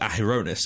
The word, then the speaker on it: Adonis: of the achievements we've had so far with aonis and I found out that that is how it's pronounced um are are you know they feel